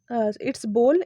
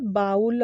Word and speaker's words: bowl: तो इट्स बोल, इट्स नॉट बाउल और बोल, ठीक है।